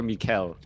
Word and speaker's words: MichaeL: Is it Michael or MichaeL? Well, with Korean letters and pronunciation, it is MichaeL. Okay. Like Michael is like, you know, American or something pronunciation. So then it's a question of how, like, you can say it how you want, but he says it MichaeL, so that's how I say it as well.